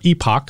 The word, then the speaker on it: Epoch: from the conservative rag the epic times or epoch i've heard it pronounced both ways i'm going to go with epic this is the map